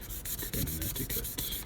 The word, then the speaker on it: Connecticut: I don't know why you got that C in there. I guess it's just one of those things. There's plenty of silent letters in the English language, I guess.